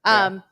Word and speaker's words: FYEO: FYEO, is that how you say it? FYEO? Yeah, FYEO.